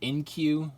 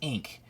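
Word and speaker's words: Inque: it's spelled I'm so dyslexic I I kept pronouncing it in queue or inkay but then I realized I was its ink idiot yeah but yeah so we have Batman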